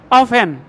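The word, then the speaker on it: often: লেখার সময় লিসেন উচ্চারণে লিসেন লেখার সময় অফটেন উচ্চারণে অফেন তাই বাংলায় লেখার সময় পদমা উচ্চারণে পদ্দা লেখার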